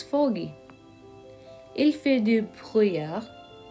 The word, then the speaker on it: brouillard: We don't pronounce double L here, so it would be il fait de brouillard.